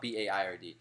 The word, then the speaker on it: Baird: called my middle name Baird my whole life and it's just stuck so it's be Aird it's pronounced like bear with a D at the end but it's not spelled like that so like bear the